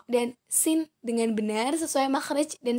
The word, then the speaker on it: س: Sedangkan sin itu seperti kita mengucapkan huruf S, sin biasa.